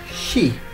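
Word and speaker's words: 四: Number 4 can be pronounced she. Yep. Like the same as saying deaf.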